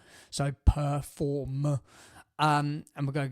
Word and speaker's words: Per4m: Um and it's Perform, which is spelt this way, p e r f four and then m. So, Perform.